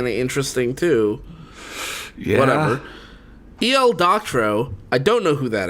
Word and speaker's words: Doctorow: Oh, you don't know who that is because he spelled his name wrong. Oh, really? It's Doctorow.